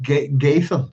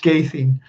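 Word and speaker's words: Ghadhean: So I'll go with Gadhean, if you like. Gadhean, if I can remember that. Is that it? How I wrote it down? Hang on. Gadhean. We'll go with Gadhean. Yeah, Gadhean. We'll keep my Northern Irish accent on it. We'll keep it Gadhean.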